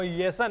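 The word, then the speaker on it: Jansen: wicket शानदार गेंदबाजी Marco येसन की मार्को स्पेलिंग आप जरूर जे से स्टार्ट हो रही है लेकिन जे साइलेंट है वो येसन है तो शानदार प्रदर्शन नाम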